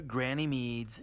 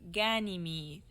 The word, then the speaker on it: Ganymede: Let's go to Granny Mead's and get this over with. It's pronounced Ganymede.